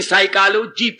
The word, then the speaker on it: psychology: फसाई चलो यानी साइकोलॉजी, PS साइलेंट।